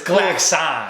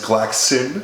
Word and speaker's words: Glaxon: It's Glaxon. Glaxon. Make sure, unless you're Sam Strange, who says that the traditional English pronunciation, because he's from Europe, is Glaxon. Oh, but he listens to too much Saxon.